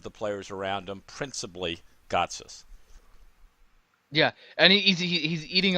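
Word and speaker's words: Gotsis: just said it right God's us yes yeah you did that time yeah that's right yeah so God's us I think has gotten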